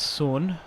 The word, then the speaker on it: Son: It's Heung-min Son. I've always said that, but I think it's technically Sun Heung-min. It's however the Koreans pronounce their last name. What? It's Sun.